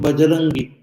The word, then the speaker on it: Bajrangi: Ba is easier to pronounce. So in our regional language, the va has become ba. So Vajrangi has become Bajrangi, Bajrangi, Bajrangavali.